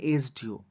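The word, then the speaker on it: SDO: উদাহরণ দিয়েছি এন এসডিও এসডিও ওর এস টা কিন্তু কনসোনেন্ট কিন্তু কনসোনেন্ট থাকা সত্ত্বেও এ সাউন্ড হচ্ছে এস হ্যাঁ এ সাউন্ড আসছে এসডিও উচ্চারণ করতে গেলে প্রথমে এ সাউন্ড আসছে তাই এ সাউন্ড থাকার জন্য এসডিও এর আগে এন হচ্ছে একই রকম ভাবে এন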